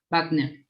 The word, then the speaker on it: Wagner: And Wagner's acting is so good here. How should I say that? How do you say his name in South America? Wagner. In Brazil, you say Wagner.